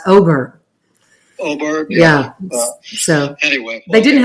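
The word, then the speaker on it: Åberg: I say Aberg. I know that's not right. And they were saying on the telecast Oberg.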